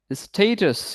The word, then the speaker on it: status: সো ইজ it actually pronounce as স্ট্যাটাস? Status. Status. It is actually pronounced as status.